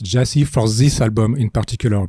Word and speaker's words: Gyasi: hell proun so why the the title pronounced Jesse for this album in particular because it's not